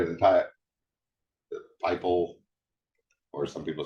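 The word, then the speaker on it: PyPI: right on this right at the top the piple or some people say piip pie it's always been a bad font it's supposed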